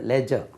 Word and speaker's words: ledger: லெஜர் கணக்கு புத்தகம், இந்த பேங்க்கில் எல்லாம் இருக்கும் இல்லையா, லெட்ஜர்னு டி உச்சரியக்கூடாது, லெஜர், LEDGER, லெஜர், LEDGER. பார்த்தா லெட்ஜர்னு இருக்காது, 292 லெட்ஜர்னு இருக்காது, உச்சரிப்பு லெஜர்.